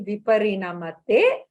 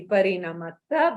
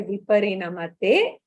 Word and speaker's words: viparinamate: pronounce, it will be Viparinamate. Otherwise, it will be Viparinamata because there is a sandhi. So you can, if you're splitting and speaking, if you're pronouncing, you can say Viparinamate iti.